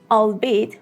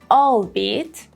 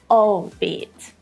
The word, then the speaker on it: albeit: If here I said albeit, that would be wrong. I should say albeit, albeit, not albeit. Yeah, the second syllable has the main stress, albeit.